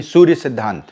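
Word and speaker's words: Surya Siddhanta: You don't have to say ta, right? Why? Because British and they they use a because they can't pronounce sadhant.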